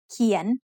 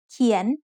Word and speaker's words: เขียน: เขียน is said with a rising tone because it has a high-class consonant and a live syllable ending.